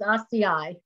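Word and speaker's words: açaí: oh yeah i guess i've learned from my young students it's rci ci there you go thank you everyone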